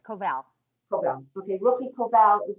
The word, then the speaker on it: Koval: Is that how you pronounce it, Ruchi? I don't want to say it wrong. Thank you. It's Koval.